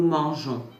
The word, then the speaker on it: mangeons: In French pronunciation, G before A or O produces a hard sound like in go. But manger carries a soft G like the J in je. To preserve that softness, an extra E is inserted ensuring